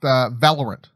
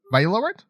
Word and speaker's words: Valorant: All right, talking about esports stuff, let's talk about Riot's games, giving our first look at Valorant. Is it? You said that's how you say it, right? Or Valorant? Valorant.